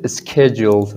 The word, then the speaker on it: scheduled: Yeah, and this is scheduled, right? I hear it like it's chair, but it's care, right? It's care. This H is silent, right?